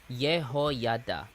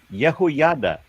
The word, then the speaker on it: Jehoiada: Jehoiada. Jehoiada. Yes. Okay. As long as just like Jehoiada the J, at the beginning of words comes from words that began with a y sound.